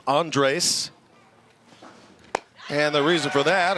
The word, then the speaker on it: Andres: name is spelled a and D re s pronounced Andres and the reason for that according to Anthony